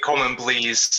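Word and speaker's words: Coleman Blease: you would argue, but you definitely said the Coleman Blees. Am I pronouncing his name correctly? Right, I think that's right. Coleman Blees, yeah, which was the first.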